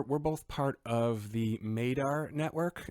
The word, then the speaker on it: MADAR: both part of the Madar Network it rhymes with radar but it's with an M Madar mad d r.